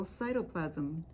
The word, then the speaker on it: cytoplasm: C sounds like a soft S when it comes before E, I, or Y, for example, cytoplasm.